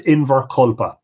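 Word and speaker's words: Inbhear Colpa: John is situated today was likely known as invar collpa spelled different ways that the primary spelling here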